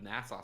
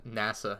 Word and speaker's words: Nassau: But I found almost bought stuff because they had the Women of Nassau set. I love the way you say NASA. Really? How do you say it? NASA.